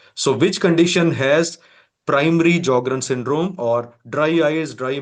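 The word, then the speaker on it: Sjögren: S is silent in these patients. So we call it as jogrren syndrome and dry eyes are also known as keratto conjunctivitis sika.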